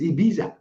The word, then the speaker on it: Ibiza: That is Ibiza. It is in Spain. It is spelled, for those of you who might want to look it up.